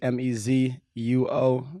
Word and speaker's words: Mezuo: It's Mezuo Music, Mezuo. The U is silent.